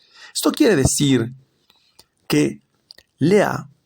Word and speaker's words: Lea: Lea con acento en la A por su perversidad y maldad.